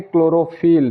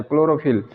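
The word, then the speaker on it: chlorophyll: और यहाँ चौथा वर्ड लेते हैं क्लोरोफिल, सी एच एल ओ आर ओ पी एच Y double L, क्लोरोफिल। इन सब में क्या हो रहा है कि सी एच के बाद एल आ रहा है, यहाँ भी आया है,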